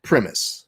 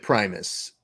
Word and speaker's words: Primus: and I know I've mispronounced it but you pronounced it premise yeah yeah yeah premise yeah okay how often do you get primus oh and I was like whatever because let